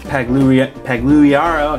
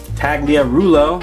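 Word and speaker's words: Pagliarulo: Mike Pagliaro, I can never say his name right. Tagliarulo, there you go, thank you.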